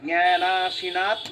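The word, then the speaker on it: জ্ঞানাসিনাৎ: এই জ্ঞানাসীনাটা, জ্ঞানাসীনা মানে সিটা হ্রস্ব, বাকিগুলো কিন্তু দীর্ঘ আছে। জ্ঞানাসীনাৎ মনঃ, জ্ঞানাশীনাত্মনঃ হ্যাঁ, জ্ঞানাসীনা জ্ঞানা, এরকম করে বলবেন জ্ঞানাসীনাৎ।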